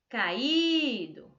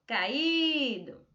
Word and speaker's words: caído: Caído. Olha como a professora está falando para perceber o som, né, da sílaba mais forte e onde eu vou encaixar este acento agudo. Caído. No I.